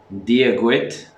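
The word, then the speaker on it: Dia dhuit: So you would say, Dia gwit, conas atatu. Wait, diagwit, Dia gwit, diagwit, conas canis, ata ata, tu.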